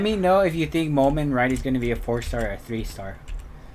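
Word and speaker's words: Mumen Rider: Merman Rider for One Punch Man. Is that how you say it? Is it Moment Rider? Oh, Moment Rider, not Merman.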